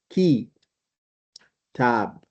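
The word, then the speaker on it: كتاب: For example, this is key tab. Kab. So this is calf has got a kasa under it. So we pronounce it key not c.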